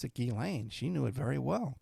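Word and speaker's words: Ghislaine: Everyone pronounced it gishlane because of the spelling. But she knew how to pronounce it Gilane.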